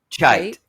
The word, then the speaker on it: Cheit: Cheit. Yeah, Cheit. Cheit. Yeah. Well, once you do pronounce something wrong, you're really, or at least I am doomed.